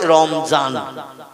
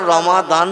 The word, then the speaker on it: রমাদান: কারণ ওরা দোয়াত অক্ষরটা মানে জয় অক্ষরের মতো আওয়াজ করে বা এই জয় অক্ষরের মতো উচ্চারণ করে পড়ে। এই জন্য আমরা রমাদান বলি আরবি ভাষায়, ওরা বলে রমজান।